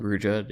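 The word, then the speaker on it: Ruijerd: Rujerd, yeah.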